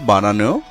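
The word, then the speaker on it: bon: বো শব্দের বানানো একটি এন রয়েছে এবং যেহেতু এটি সর্বশেষে এবং এটি একটি কনসোনান্ট, তাই এই এনের উচ্চারণ হচ্ছে না, এর উচ্চারণ হবে বো।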